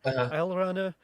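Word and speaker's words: Alraune: Sorry, I looked it up how to pronounce it because it's like a German word. Alrana, and his daughter Marlene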